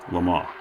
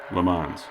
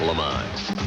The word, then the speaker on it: Le Mans: Since I can't speak French, I may not get this right, but my best attempt is Le Mans, whereas most Americans pronounce it as it is spelled, Le Mans, and that includes myself,